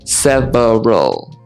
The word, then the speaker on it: several: Several, again, no, several, like this.